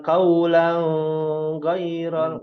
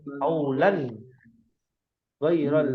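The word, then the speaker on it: قولا غير: Lan itu apa hukumnya? Idhar ya, bacanya jelas. Bukan qaulan ghairal ngambang ya. Qaulan ghairal ladzi qila lahum.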